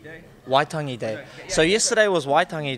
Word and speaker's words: Waitangi: What is exactly, I'm going to say it wrong, Waitangi Day? Waitangi Day.